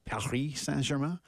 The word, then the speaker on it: Paris Saint-Germain: That's how they say it in French. That is. Paris Saint-Germain.